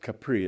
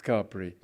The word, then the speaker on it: Capri: you think that that me that should be pronounced Capri it's not it's Capri you wear Capri anyway he had a painting